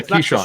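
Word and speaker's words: Keesean: um that the eagles were going to sign key sean johnson is that is that that's how it's pronounced right like yeah keyshawn shawn like the old that's cute sean johnson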